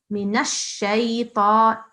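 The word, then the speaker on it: مِنَ الشَّيْطَانِ: little thing here that when you are joining the noon to the sheen, you see there's shad there. So they must be joined, okay? Minash shaytan. I think you pronounce the noon separately, whereas there's no need. You can just pronounce it with the sheen, mix it with the sheen.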